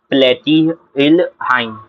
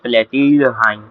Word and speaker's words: Platyrrhini: इनफ्ला order रहता है प्लेटिलहाइन, प्लेटिलहाइन, हाँ कि ना? इनका इनफ्ला ऑर्डर क्या लेता है, प्लेटिलहाइन, पैथेहिनी, सॉरी, हाइन पढ़ता हूँ मैं।